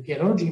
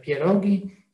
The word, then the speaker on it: pierogi: Questa parola non si legge pierogi, ma si legge pierogi.